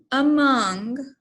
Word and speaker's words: among: our vowel sounds so among the a is a schwa sound so we put our